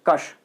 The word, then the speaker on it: क्ष: ये इसका उच्चारण, जो एक्चुअल उच्चारण है वो ऐसा होना चाहिए कश, लेकिन हम बोलते क्या है इसे क्ष।